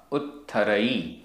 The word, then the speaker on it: उत्थरई: उत्थरई उत्थरई आधा त थ उत्थरई।